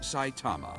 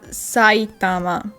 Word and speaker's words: Saitama: so we also have saitama right then s s a consonant vowel that's that's the syllable e is its own thing you probably buys a new one each year t-a-m-a sai thama situation in this lobby